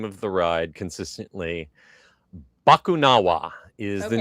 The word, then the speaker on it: Bakunawa: And the first crazy thing is going to be trying to get my tongue to pronounce the name of the ride consistently. Bakunawa is the Okay, name that's how of I the said new it.